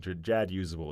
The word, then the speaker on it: Jadusable: It should be Jadusable. Jadusable, actually, is the correct. I changed my mind. Jadusable is the correct pronunciation.